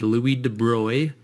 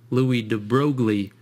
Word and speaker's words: Louis de Broglie: named louis de bruy now it looks like you pronounce this louis de broglie and that's what i always said i always read this and i said de broglie in my mind and i knew that wasn't right if you look it up